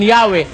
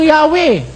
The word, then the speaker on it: Yahweh: Ito sakhova pakikita ko sa inyo sabi nila rito while inclining to view the pronunciation Yahwe as the more correct way we have retained the